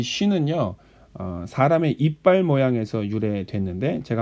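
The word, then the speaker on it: שׁ: 쉬는요, 한글에서 시나 쉬의 발음을 갖고 있고, 타오는 티귿의 발음을 갖고 있습니다. 자, 다시 한번 써보겠습니다. 신, 이게 신이고요. 그 다음에 요게 쉰이 되고, 마지막으로 이것이 타우입니다.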